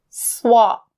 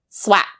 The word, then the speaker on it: swap: The pronunciation you need to be careful with is the word swap. Sound. Even though it's written with the A, don't say swap. Swap. Sounds so odd.